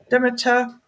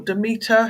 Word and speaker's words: Demeter: We have on the list Freya, Demeter, or Demeter, however you want to pronounce it, Ceridwen Pachamama, that's not